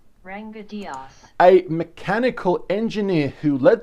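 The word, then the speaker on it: Ranga Dias: Ranga Diaz, I'll just quickly pronounce his name correctly. Ranga Diaz.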